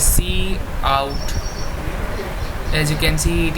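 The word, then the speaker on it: cout: of a program here this is pronounced as c out as you can see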